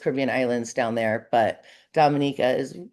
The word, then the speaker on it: Dominica: Um it is pronounced Dominica.